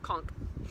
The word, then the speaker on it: conch: a flap of skin called an ear conch it says pronounced conch which opens into a